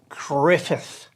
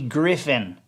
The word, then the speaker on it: Griffith: the andy griffith show g-r-i-f-s griffith his name ain't andy griffin okay don't come around me and say griffin i don't know who